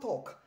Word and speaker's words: talk: next one is not talk the l is silent could you please talk to her could you please talk to him okay it